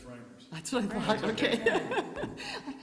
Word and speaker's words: Reimers: Are we pronouncing your last name right? It's Reimers.